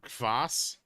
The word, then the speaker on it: kvass: It was called like Voss or Kvass. It's spelled like KVASS.